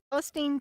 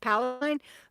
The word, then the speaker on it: Palestine: And Susan says she's in Kentucky, but she's from Palestine, Texas. It is awesome, and a lot of people think that it's pronounced Palestine, but in Texas we pronounce Palestine.